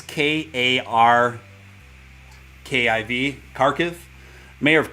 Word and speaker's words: Kharkiv: right now another ukrainian city that i can't pronounce it's k-a-r-k-i-v kharkiv mayor of kharkiv in ukraine warned citizens not to leave their